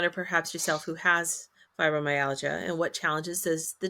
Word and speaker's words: fibromyalgia: How does Chloe's fibromyalgia... How do you pronounce that? Fibromyalgia? I think the way you just did. Yeah. Do you pronounce the I? Is it algia or like algae? I think it's algia.